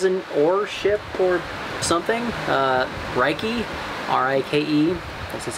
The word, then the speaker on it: Rike: Rike, R-I-K-E, that's how you pronounce it.